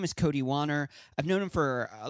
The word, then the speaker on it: Wanner: It's Wanner. It rhymes with honor. So Cody Wanner rhymes with honor.